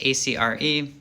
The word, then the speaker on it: Acre: third crusade in the siege of acre that's acre I've heard a lot of different pronunciations but we're gonna stick with that anyways